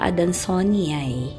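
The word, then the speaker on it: adansonii: This is Monstera adansoniae. Adansoni. Pero ang correct pronunciation daw po, Monstera adansoniae.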